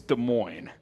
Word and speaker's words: Des Moines: Ohio big fields as Des Moines Iowa uh bears for Life says Reno Nevada nice hey as a uh as a college hoop Stan You Should Know It's Des Moines the S is silent That's a classic uh